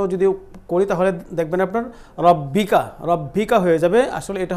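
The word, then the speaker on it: رَبِّكَ: বিহামদি তারপরে এটা হলো রার উপরে জবর আছে এই জন্য আমরা রাটাকে মোটা করে উচ্চারণ করব আর এখানে একটা তাসদিদ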